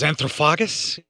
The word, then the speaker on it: Anthropophagus: Which I believe is known as Anthropophagus, how it's pronounced.